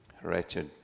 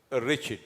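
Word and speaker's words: wretched: say it this one how you say this one riched you don't say the W right yes okay riched riched like Wicked mhm okay B person right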